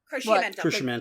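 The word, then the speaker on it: Cruciamentum: MC, please pronounce it for me. Crescimentum.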